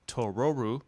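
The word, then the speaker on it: トロル: of the difference between tororu the Japanese pronunciation of troll and Totoro would have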